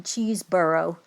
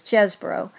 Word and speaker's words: Chesebro: So she said the pronunciation is Chesebro.